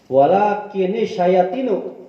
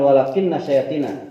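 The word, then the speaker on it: وَلَٰكِنِ الشَّيَاطِينُ: Imam Ibnu Amir, Imam Hamzah, Imam Kisai membacanya dengan walakinish syayatinu, bukan walakinna syayatina.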